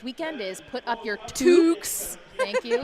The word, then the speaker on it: toques: Toques. Sorry, I always mess that I know, up. I did too. Toques, which... Gretchen had to tell me. Because it rhymes with put up your dukes, put up your I toques.